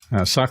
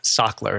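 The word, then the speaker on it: Sachtler: for us and which are the good ones scker has been around for a long time as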